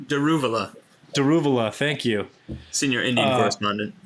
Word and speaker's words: Daruvala: fired um d d what's his name daruvala daruvala thank you senior Indian correspondent yeah I was